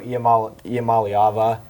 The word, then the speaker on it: Iamaleava: But and then if Nico Iamaleava, I finally pronounced it right, if he can finally develop and have some good games, I think they can be really scary.